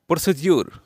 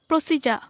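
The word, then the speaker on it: procedure: বলবো receive receive না বলে বলবো রিসিভ রিসিট প্রসিডিউর আমরা প্রায় বলে থাকি প্রসিডিউর যেটা কমন ভুল এটার সঠিক উচ্চারণটা কি হবে প্রসিজা প্রসিডিউরের সঠিক উচ্চারণ কি হবে প্রসিজা আমরা প্রসিডিউর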